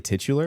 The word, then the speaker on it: titular: Titler. Is it really titular?